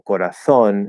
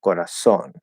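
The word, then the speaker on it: corazón: probably mimic that like saying corazon instead of corazon right and maybe they don't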